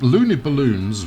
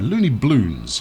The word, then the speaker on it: Looney Bloons: and I I think Looney balloons will be sorry Looney Bloons how dare I add an extra syllable in there uh will be our